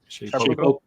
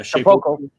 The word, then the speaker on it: Shapeoko: The Carbon 3, the Shapeoko, or however you say it. How do you say it? Shapeoko. Yeah, Shapeoko.